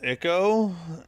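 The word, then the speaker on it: ICO: I pronounce it's pronounced Iko.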